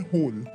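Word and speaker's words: whole: Option D होल, यहाँ पर भी W साइलेंट है क्योंकि हम बोल रहे हैं होल।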